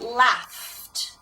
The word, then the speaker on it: laughed: This f sound can also be present in A-U-G-H as a spelling. So as in laughed.